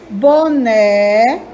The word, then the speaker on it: boné: a sílaba mais forte boné o né é a sílaba mais forte camisa o me é